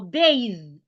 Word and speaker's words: bathe: second example Le bathe bathe is spelled b a t h e b a t h e that is the spelling of bathe and this is the th sound that we have in bathe it sounds v v